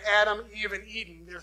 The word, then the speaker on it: Adam: These are the words that when the Hebrew people would have read this text, or been told this, when they heard Adam, is how it's pronounced, they would have known that to mean human being.